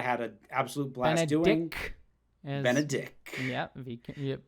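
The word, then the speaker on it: Benedick: Benedict. Yeah, make sure you say it right. Oh yeah, no T. Absolutely no T.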